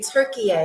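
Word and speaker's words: Türkiye: And that country is, dun, dun, dun, we're going to Turkey, or as they say, Turkey. That's the correct pronunciation, okay?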